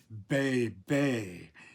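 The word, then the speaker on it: βῆ: For example, um bay bay is a word that appears in Greek plays and poetry, which is imitating the sound of a sheep. And From that, we can tell that those two letters of the Greek language, the beta and the eta, um sa are sounded like that. B The beta is a B, not like in modern Greek a V as in victor.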